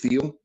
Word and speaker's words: Thiel: We got Chris T took on Brian Webb, Chris Thiel, I believe he pronounced his last name, Chris Thiel.